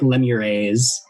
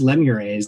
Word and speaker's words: lemures: uh and i have never really known the actual proper pronunciation pronunciation but i like lemur a's these are very minor worker devils known as lemures they are often used